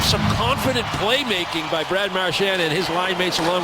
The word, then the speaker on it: Marchand: for 4 previous years, he wants everybody to call him Marchand.